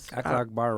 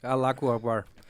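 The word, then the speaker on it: الله أكبر: I pray I never do because Akhlaq bar, right? Is that how you say it? Akhlaq bar? Allahu Akbar.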